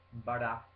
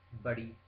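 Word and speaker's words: बड़ी: R veneziana R, R, R, non R, e neanche R, R, Bara, Bari. Per chi conosce altre lingue straniere, l'albanese ha questo suono caratteristico R, quantomeno in una delle sue varianti. Quindi esercitatevi a pronunciarla per non dire semplicemente bara, perché altrimenti state dicendo un'altra parola.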